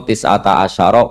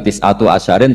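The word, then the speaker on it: تسعة عشر: Padahal itu jadi mubtada muakhar berarti alaiha iku tetep ing atase neroko tisata asyaro utawi 19. Tetap bacanya bukan tisatu asyarin tapi tisata asyar.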